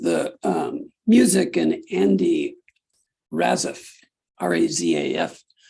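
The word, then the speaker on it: Razaf: fat swaller with the um music and Andy raziff r-a-z-a-f pronounce that as you will with the lyrics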